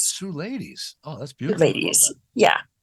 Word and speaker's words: Suleidys: say your name uh Sue ladies like Sue and ladies Sue ladies oh that's beautiful ladies